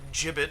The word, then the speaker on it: gibbet: Back into the gibbet I go. Or gibbet, I suppose, if you prefer. I've always done the hard G.